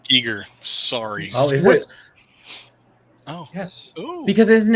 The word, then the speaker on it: Giger: me going like this it's a giger eager sorry oh yes because